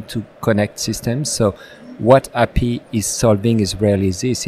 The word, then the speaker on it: HAPI: So Laurent and Luis are with a company called Happy. That's spelled HAPI.